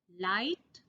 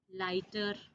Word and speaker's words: light: Light, lighter. In these two words, again, GH is silent.